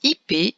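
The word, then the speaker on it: ipé: Son anagramme perdait quelques points puisque le P n'était pas sur la case bleu clair, épi, ou bien IP, en fait, qui se prononce IP, c'est un arbre d'Amérique tropicale au bois dur.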